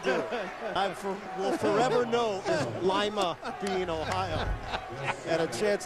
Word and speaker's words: Lima: Is that the correct pronunciation, by the way? Lyman. It is Lyman. It was one of the. I saw you. It's a Lyman thing.